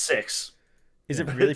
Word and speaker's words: CEX: Literally, it's pronounced sex. Is it really pronounced that? It's It's C exchange is what it's like.